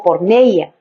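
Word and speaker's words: πορνεία: con comer en griego la palabra para fornicación es pronunciada como porneia y se utiliza metafóricamente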